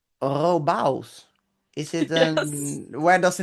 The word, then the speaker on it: Robavs: I don't know if you can pronounce it. It's Robos. Robos.